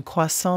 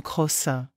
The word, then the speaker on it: croissant: Lisa une touriste allemande a commandé un croissant mais l'a prononcé comme crossin le serveur a souri